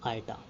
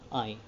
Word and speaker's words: iota: यहाँ पर जो i है वो हम प्रोनाउंस करेंगे एज आइटा बट नॉट एज आई, because यहाँ पर जो